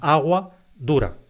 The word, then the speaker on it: aguadura: sí que decimos el agua dura pero a continuación agua dura agua dura eso se escribe en una sola palabra y la sílaba tónica es du es agua dura Entonces como la a